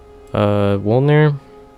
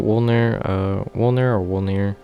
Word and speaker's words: Wolnir: Wolnir, I think that's how you say it. Wolnir.